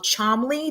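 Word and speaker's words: Cholmondeley: the Martian s of Chumlee there's a lot of extra words letters in that John Lee I am pronouncing it properly there's some extra D's and some M's in there that don't belong to American eyes but it's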